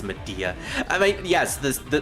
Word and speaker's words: Media: that's pretty much like her best attack it's pronounced media I me yes this the the healing spell